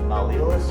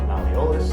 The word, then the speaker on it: malleolus: Then you also have medial malleolus, or malleolus, depending on how you're taught to pronounce it.